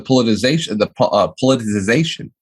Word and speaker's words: politicization: As far as the politicization, how do you say that fucking word? Polarization?